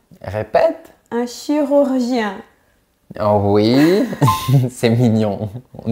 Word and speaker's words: chirurgien: Si tu as du mal à prononcer le R français, pense à la lettre K.